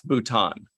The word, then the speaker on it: Bhutan: We totally looked up how to pronounce Bhutan, but I thought it was Bhutan. We've got Kitty's vote. Mhm. Yeah, it's Bhutan.